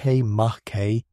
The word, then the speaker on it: Makemake: Makemake, pronounced Mahke, is the third largest known Kuiper Belt object and another dwarf planet.